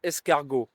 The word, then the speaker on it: escargot: in French, which is escargot. Uh it starts with E S C. So, in this case, when the E stands before two consonants in a row, it is always pronounced eh.